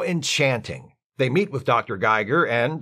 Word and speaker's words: Giger: His name is Geiger, too. Really? Yes. It's spelled differently, but pronounced the same, so the difference will be imperceptible to those watching the show. How enchanting. They meet with Dr. Geiger, and, like the other Dr.